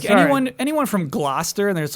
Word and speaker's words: Gloucester: anyone from Gloucester, and there's like you Oh, yeah. say it Gloucester.